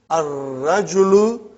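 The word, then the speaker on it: الرجل: You did not pronounce lam. Okay. Next one is ar-rajulu waqifun.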